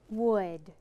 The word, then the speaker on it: would: W-u-d. How many sounds are in the word? Three. I bet I can spell this word. Okay, I'm ready. W-O-U-L-D. You got it. Great job remembering that this word is tricky.